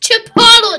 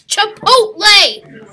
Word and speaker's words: Chipotle: have to tell you it's not pronounced Chipotle it's Chipotle it's Chipotle now go